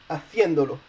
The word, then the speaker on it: haciéndolo: But in haciéndolo, you're adding a syllable, so basically you need a written accent on the E in order to keep it on the E.